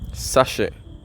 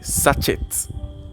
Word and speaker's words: sachet: Sachet, or people will say sachet. But it's pronounced sachet.